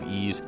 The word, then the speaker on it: Ys: Despite this, there are words and names that pronounce Y''S, similar to Ease. If you said Nancy's house is on the right, the pronunciation sounds quite similar to the game's appropriate pronunciation.